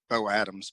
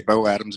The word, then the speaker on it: Beau Adams: If you Google or put on Amazon Beau Adams, Beau Adams, Adams. I know it's spelled a little weird, a little different than most people would think, but it's Beau Adams, Beau Adams, and you can put that on Amazon.